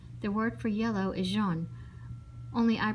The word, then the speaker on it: jaune: Dink said the French word for yellow sounds just like Joan.